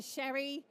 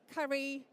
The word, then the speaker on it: Ceri: way, which can sometimes cause some confusion in pronunciation. So I answer to Sherry, Curry, Cherie, Ceri, you name it.